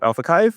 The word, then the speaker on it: AlphaXiv: You guys are the founders of AlphaXiv, which I've confirmed is the official pronunciation.